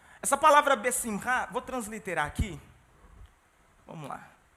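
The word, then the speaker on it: בשמחה: Mas toda transliteração em hebraico, quando você tem essas letras CH, a pronúncia é com som de 2 R's. E é um som gutural.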